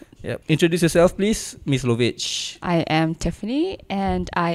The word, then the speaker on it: Lovage: Oh, how do you pronounce that? Lovage. Lovage.